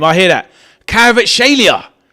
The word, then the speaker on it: Kvaratskhelia: Great freak from Kvaratskhelia.